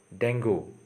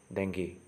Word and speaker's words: dengue: with a long pronunciation is dengue people commonly pronounced the word is dango okay but the actual pronunciation is dengue okay so remember it so let's move to